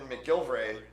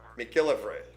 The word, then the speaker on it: McGillivray: So this is actually Kevin McGilvray. Am I saying it correctly? Okay, McGilvray. McGillivray. Okay.